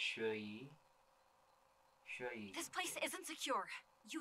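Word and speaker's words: Xueyi: like a woman so her name's pronounced shoyi this place isn't secure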